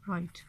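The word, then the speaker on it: write: अब नोट का के, डाउट का बी और राइट का डब्ल्यू जो है वो यहाँ पे इनकी आवाज़ जो है वो साइलेंट है, यानी कि इनकी आवाज़ नहीं आ रही, ये म्यूट लेटर्स हैं।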